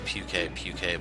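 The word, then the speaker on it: Pukei-Pukei: Puki-puki, or they actually pronounce this puke-puke, but just be aware, it pukes on you.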